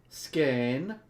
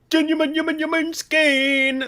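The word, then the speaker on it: Skåne: court of appeal for skein how do you say that sweets scan no it's like it's like it's like more more skein that's how they talk That's it man so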